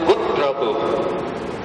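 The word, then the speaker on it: Gotrabhu: No, we pronounce it Gutrabu. Go, when you put T there, it becomes Gut.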